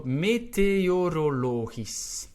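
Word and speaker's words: meteorologisch: with the weather so meteorologis all right so it's a long word lots of vowels and it ends on that s CH which will pronounce as an S of course if the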